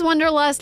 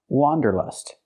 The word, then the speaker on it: wanderlust: It's pronounced wanderlust. Let's look at the difference. The correct pronunciation of this word has the sound a like hot and stop.